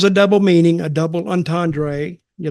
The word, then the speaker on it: entendre: I mean, that is how the French pronounce it.